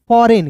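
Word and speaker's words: foreign: फिर देखिए यहां पर एफ ओ आर ई जी आई देखिए एफ ओ आर ई आई जी एन फॉरेन।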